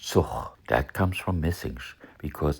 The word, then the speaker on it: Zug: You may also have noticed how the G at the end of a syllable sounds like h or ch, not k.